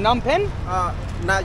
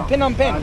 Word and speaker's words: Phnom Penh: But from Phnom Penh?